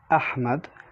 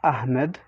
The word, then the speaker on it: ahmad: but you say muhammad or the name ahmad ahmad not ahmed so basically it's a heavy h and we substitute it